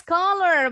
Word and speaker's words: collar: Bacanya mirip ya dengan warna color, hanya spellingnya aja yang berbeda.